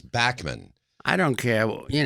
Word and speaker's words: Bachman: when BTO came out Bachman Turner overdrive that's what everybody said so he just had to go along with it but his name is Backman I don't care well